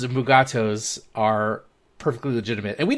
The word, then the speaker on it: Mugato: canon that all of these different pronunciations of mugato's are perfectly legitimate and we did not need that everything was fine mugato's was the right way to pronounce it i wish mike please damn it